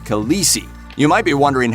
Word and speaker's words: Khaleesi: own language sounds like he says the correct pronunciation of khaleesi is the native dothraki pronunciation is khaleesi peterson says that his